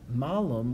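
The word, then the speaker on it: malum: now here's the thing so Malin with a long a means Apple malam with a short a means bad thing that is it's a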